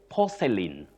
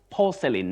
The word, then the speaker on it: porcelain: And then you say porcelain. Porcelain, not porcelain that we hear locally. Okay.